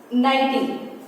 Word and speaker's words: knitting: Next one, knitting. K is silent here.